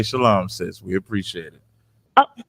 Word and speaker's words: Shalom: said he L okay that's that's what you're doing with shalawam right instead of making instead of making a compound word of just Shalom they're pronouncing a sound that's not necessary to be pronounced okay yeah so that's